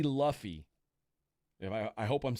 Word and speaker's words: Luffy: Luffy. That's what I think it is. Rhymes with Huffy.